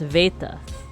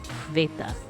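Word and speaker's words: βήτα: So the ancient pronunciation is just B. But it has since become V. So this actually wouldn't be pronounced beta, it would be pronounced Veta. Veta.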